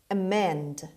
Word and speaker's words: amend: to unload the inches amend amend the stress is on the second syllable on m amend means change for the